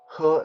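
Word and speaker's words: 喝: alcohol to enjoy alcohol it's called her jo her like h-e-r like her her joke her joke means drink alcohol a lot of people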